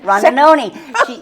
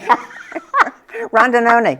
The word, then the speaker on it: Rondinoni: Rondinoni. She had it all before this. Sorry, I did. Jen. It rhymes Jen with macaroni. Rondinoni.